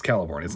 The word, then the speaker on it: Celeborn: This is shown very clearly with Celeborn, and that is how it's pronounced. It's Celeborn. It's not Celeborn. That's a Tolkien thing.